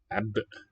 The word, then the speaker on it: عبء: 3 is a, which lowers the I to eh, عبء ab, and then a glottal stop after the B.